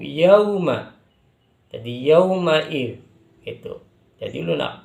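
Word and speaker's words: يَوْمَ: Jadi jangan sampai ketika ada wawu sukun bacanya seperti huruf O, jangan. Tapi huruf U, mirip dengan huruf U, yauma.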